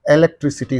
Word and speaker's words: electricity: And what should be the syllable preceding the suffix means? Only this one. Electricity. Electricity. Electricity. Electricity, right.